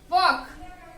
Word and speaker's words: walk: Come, calf, half, talk, walk.